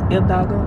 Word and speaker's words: Hidalgo: Actually, it's Hidalgo because the H is silent. So, Hidalgo.